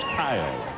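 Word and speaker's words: Cahill: And what else is a rarity is their name is spelled C A H I L, but pronounced Kyle.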